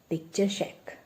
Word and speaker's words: picturesque: Tappa took a turn and there stood before him an elegant means beautiful, that is picture-shack. It's not picturesque. Side by side, try to learn the pronunciation also. That is picture-shack.